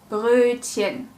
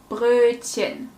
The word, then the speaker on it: Brötchen: Nummer 1. Brötchen. Brötchen. Is it a long or short Ö sound? The correct answer is it's a long Ö sound.